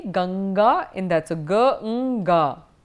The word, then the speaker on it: Ganga: will it be so you have to look at the next word next letter and because it is a girl therefore it will be n mmm there asou so it will then be Ganga in that's a girl